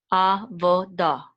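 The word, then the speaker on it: עֲבוֹדָה: This is the kamats, it's going to say da, a, vo, da, avoda. And the hey is silent here.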